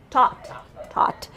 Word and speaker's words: taught: No H, so it's just taught. This one is thought because it has that TH, right?